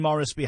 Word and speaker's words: Moresby: And it's Shane Moresby. How do you spell that? Cheyne. Morris is in Morris, Morris, and then B-Y.